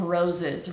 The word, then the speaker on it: roses: connect that to of roses. Red, we release and then jump right into Red roses. Make sure both of these S's are pronounced like a Z, vibrating sound. Roses. It's not roses, but roses.